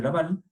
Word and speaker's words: Lavalle: Y sin embargo, hay un tercer libro, que ya se lo voy a mencionar, que es el libro de Laval, así se escribe Lavalle, que es el libro que habla por default de todo lo que es planificación en general.